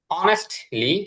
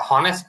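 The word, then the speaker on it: honest: অনেস্টলি, এটা হনেস্ট না, অনেস্ট, জি।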